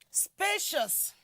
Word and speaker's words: spacious: we also move to the word spacious spaceous spacious is actually an adjective that is why it is the first syllable SP that is what that is stress then let's also see